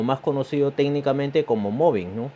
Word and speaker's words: mobbing: Estamos hablando del tema del acoso laboral, o más conocido técnicamente como mobbing, ¿no? Mobbing o moving, ¿no? Como se pronuncia en el inglés británico, ¿no?